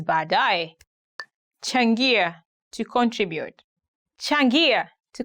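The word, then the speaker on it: baadaye: going to look at 10 hardest ones to pronounce in Swahili bad die later die for example you can say badai see you later now actually I can understand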